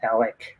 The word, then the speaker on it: Alec: it's okay yeah and you told me Ron it's like smart alec that's how you say no also you are